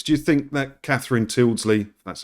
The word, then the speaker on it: Tyldesley: Do you think that Catherine Tyldesley, that's how you pronounce her name, knew about it, or if it was just her?